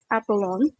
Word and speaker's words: Apollon: And in Greek, it's actually pronounced Apollon, as the way to pronounce it in Greek. So you can correct me if I'm wrong. And in Roman, it's still Apollo.